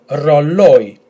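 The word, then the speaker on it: ρολόι: Okay, again, if you've noticed, we have the combination of these two letters, which normally would be pronounced as E, but this time we have a tone on the first letter. So again, we will have to pronounce each letter separately. So we have R, R, O, L, O, E. And the emphasis will be in this letter here. So altogether, R, rolling R, Rolloi, Rolloi, Rolloi.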